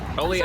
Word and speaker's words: Oleato: Oleato.